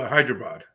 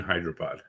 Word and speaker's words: Hyderabad: I went to Hyderabad. Oh, Hyderabad. Is that how you say that? Yep. It's got a lot of syllables in there to like Yes.